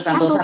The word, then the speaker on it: Santosa: baca sih, nggak tahu yang benar Santosa Santosa ya, ya. karena Ya. dia orang Jawa Mas Ersu. Biasanya orang Jawa jadi Santoso. Ya, karena Budi Santoso Purwokartiko gitu ya. Atau kalau nggak saya Iya, bacanya Budi Santosa.